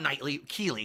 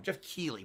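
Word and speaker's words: Geoff Keighley: fighter this week what's not Knightly Kili excuse me I'm saying his name wrong Jeff Keely boy I blew that not Knightly I don't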